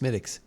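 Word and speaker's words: Smithwick's: I know, but I think it's pronounced smidics.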